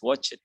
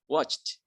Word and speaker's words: watched: it watch plus eds watch it but you don't say watch it you say what watched watched watched okay linton can